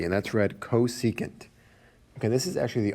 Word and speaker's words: cosecant: e c a and t and that's read cosecant okay this is actually the only one whose